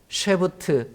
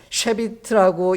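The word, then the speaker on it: שבות: 왜냐하면 공경이라는 이 단어는 쉐부트 혹은 쉐비트라고 읽는 단어인데요.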